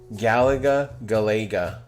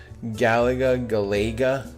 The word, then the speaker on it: Galaga: I'm against, I'm against people that pronounce Galaga. Yeah, you can't be my friend. If you pronounce Galega, you can't be my friend. And if you pronounce gapless as gaplus, you can't. I don't want to know you. I'll disown you. That's just a pet peeve of mine. Don't ever say Galega or gaplus ever.